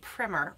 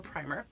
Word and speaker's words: primer: The Level K primer, or primer, depending on how you say it.